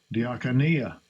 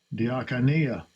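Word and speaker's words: διακονία: Diakonia. Diakonia. That's how it's pronounced. As close as possible.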